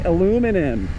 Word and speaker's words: aluminium: Um, I also like the BMW R9Ts, especially that one with the uh the alumin aluminium or as you Americans say, aluminum. Here in Australia, we say aluminium.